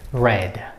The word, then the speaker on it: read: of the verb read however when it becomes a past verb it is pronunciated it was it is said out loud like red so this one and the color red have same pronunciations and it's the past